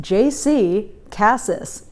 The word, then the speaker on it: JC Cassis: about me is that my name is pronounced jc cassis nobody seems to be able to get that but that's what it is the second thing i